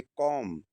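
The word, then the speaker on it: comb: अब एम के बाद बी साइलेंट होता है। कोई भी मीनिंग हो एम के बाद बी साइलेंट होता है। अगर एम किसी मींस में है और उसके बाद बी आया है तो बी हमेशा साइलेंट रहेगा।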